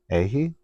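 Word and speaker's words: Eihi: Ehi.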